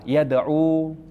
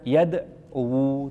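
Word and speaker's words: يدعو: Dan terkadang dhamahnya enggak kelihatan seperti berdoa yad'u. Jadi enggak bisa dibaca yadwu, tidak cukup dibacanya apa? Yad'u.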